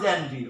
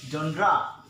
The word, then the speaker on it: genre: Is it January? It's not January. Okay, it's the correct pronunciation of this word is genre.